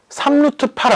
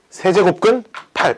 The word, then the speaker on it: 세제곱근 8: 3루트 8 아니다. 알았지? 세제곱근 8 이렇게 읽으면 돼. 알았지? 3루트 8은 우리가 맨날 쓰던 이렇게 쓰는 게 3루트 8이죠. 그쵸? 이거 3루트 8이라고 읽으면 안 되고 뭐라고 읽는다고? 세제곱근 8 이렇게 읽어요.